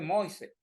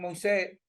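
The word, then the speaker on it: Moïse: Yo pensé que era muas como venua y ese ese haitiano es un haitiano estudiado me dijo que se pronuncia mois porque muchas palabras del francés la última vocal no se pronuncia bueno y a veces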